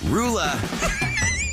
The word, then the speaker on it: Roula: How the heck do you pronounce this woman's name? Roula.